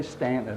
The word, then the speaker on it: Staunton: They say Stanton is actually spelled like it's Staunton.